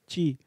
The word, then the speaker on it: Kyi: Statement में basically उन्होंने condemn किया है कि उनकी जो लीडर है ऑंग सैन सू ची, ये लिखा की जाता है बट इट is pronounce as ची।